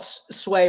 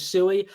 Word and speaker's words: Sui: So I call it Sway, but I think the correct pronunciation is Sui.